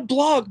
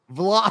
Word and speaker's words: vlog: This isn't a blog, bro. Vlog. I didn't say blog. I said vlog.